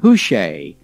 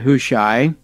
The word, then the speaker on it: Hushai: was a man named who shay h-u-s-h-a-i who shay and um i suppose we could also pronounce that who shy and so hush i